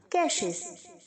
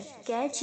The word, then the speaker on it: cache: कैशेस, कैशिंग। सो ये कैश है, कैच या कैची इसको प्रोनाउंस नहीं कीजिएगा, ठीक है।